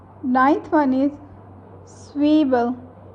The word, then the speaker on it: Zwiebel: Ninth one is Zwiebel. Z gives the sounds of S in German language, that's why it is called Zwiebel.